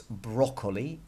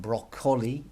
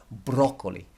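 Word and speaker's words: brócoli: go stale broccoli okay we know it's broccoli not broccoli or broccoli because there's an accent on that oh so we know that we hit that Val broccoli megusta and broccoli and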